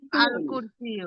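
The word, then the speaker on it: الكرسي: আল আল কুরসি কামার আল আল আল কুরসিয়ু। কুর্তি। আল কুর্তি। কুরসিয়্যু। উ একটা আল পেশ। কুরসিয়্যু। লামের উচ্চারণ হবে, ঠিক আছে?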